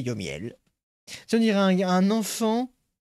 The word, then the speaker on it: Yomiel: C'est entre Lionel et Johan et Miel. C'est Yomiel.